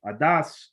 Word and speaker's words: Adas: the the people itself adas is an ashkenaz pronunciation of adat which really means a